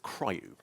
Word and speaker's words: CRIU: Now, if you look at Linux, Linux has a piece of technology that's called CRiU, Coordinated Resume in User Space, or as some people try to pronounce it, CRiU.